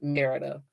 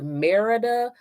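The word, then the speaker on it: Mérida: So you'll hear it pronounced Merida, but the local population, they call it Merida.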